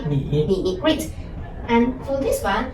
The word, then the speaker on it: 你: N, E, Ni.